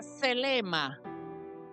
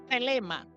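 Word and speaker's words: θέλημα: escribe una de primero y se pronuncia selema selema una d y después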